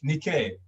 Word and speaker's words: Nike: i didn't know that that's how nigerians pronounce nike nikkei yes nikkei i love it